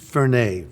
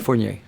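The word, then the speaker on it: Furnier: Or maybe I should say an older Alice say to a young Vince, you know, Vincent Fern, right? Am I pronouncing it right? Fornier.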